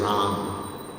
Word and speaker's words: Ram: And sometimes people can just say Ram. It's all right. It's all right. I mean, it's all right. I heard Prabhupada do that without the soft A at the end.